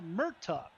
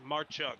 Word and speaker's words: Marchuk: three Randall Dixon Kyle Muk did I say that right Clayton yes marchuk I think is the correct pronunciation there marchuk in row number